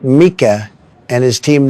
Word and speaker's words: Micah: First off, I believe it's pronounced Mika, and his team name is Too Old for This Blitz.